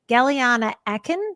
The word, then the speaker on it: Gellyahnah Aakhen: Galana Aken. Did I pronounce that correctly?